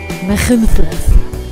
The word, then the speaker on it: Machynlleth: Wir starteten in einem kleinen Ort namens Machynlleth in perfekter walisischer Aussprache.